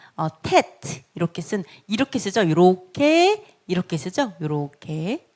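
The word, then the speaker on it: טית: 그 다음에 테트. 그래서 요거는 티귿 발음으로 T 발음 됩니다. 테트 9번입니다. 테트 9번. 그래서 이거는 티귿 발음이구나. 테트 이렇게 쓰죠.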